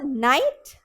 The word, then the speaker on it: knight: Here the K is silent, that's why we have only night, and here we do not have a K, so it's just night.